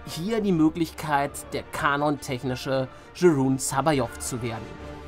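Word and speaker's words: Joruus C'baoth: Ja, ich spreche ihn so aus, denn wenn die Stimme des großen Luke Skywalkers dir das als Kind gesagt hat, dass er so ausgesprochen wird, dann wird er auch so gesprochen.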